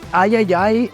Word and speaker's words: III: partnering with called the Ayayay Initiative. Yeah, I'm pretty sure it's pronounced Triple I. You know, like AAA, but with I for indie.